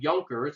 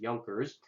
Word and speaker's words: Junkers: the nobles were called yonkers it's I know it looks like Junkers but it's pronounced yonkers and these Junkers these